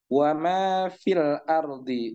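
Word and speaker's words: وما في الأرض: Maka yang pertama ketika dia wasal, dia dibaca wa ma fil ardi, wa ma fil ardi. Ini dibaca tidak panjang. Nah, karena dia nyambung. Akan tapi ketika disuruh berhenti, berhenti di fi. Wa ma fi, wa ma fi. Maka fi-nya dibaca panjang dengan 2 harokat.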